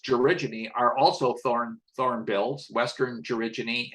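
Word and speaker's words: gerygone: The georigine, this word is pronounced georigine, are also thornbills, western georigine and large-billed georigine in these 2 photographs.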